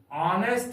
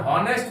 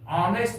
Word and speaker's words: honest: जैसे एन ऑनेस्ट मैन, HONEST। यहां पर हॉनेस्ट मैन नहीं पढ़िएगा, ऑनेस्ट मैन। एच यहां पर साइलेंट है, इसलिए यहां पर एन का प्रयोग होगा।